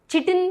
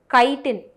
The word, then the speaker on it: chitin: நிறைய பசங்க I have seen them pronounce here chitin கிடையாது, chitin, KI-ன்ற மாதிரி ப்ரொனவுன்ஸ் பண்ணும். ஓகேவா?